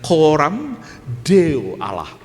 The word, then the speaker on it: coram Deo: C-O-R-A-M. Coram, bacanya jangan coram ya, bacanya coram Deo Allah, di hadapan Allah.